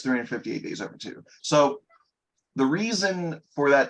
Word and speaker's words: 358/2 Days: So now we're going fully into Kingdom Hearts 358 Days Over 2. Okay. Which is how it is pronounced. It's spelled like 358/2 days. Yeah. But it's 358 Days Over 2.